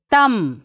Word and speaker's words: thumb: we are not pronouncing thumb tome dumb climb so what do you observe children here yes b we are not pronouncing see b is not pronounced after m at is not pronounced